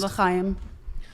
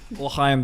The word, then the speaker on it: L'chaim: L'chaim. L'chaim, Deborah. Good pronunciation.